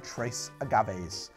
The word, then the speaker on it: Tres Agaves: lime margarita mix from Tres Agaves I believe that you're supposed to pronounce the S it's just Trey Agames all right let's see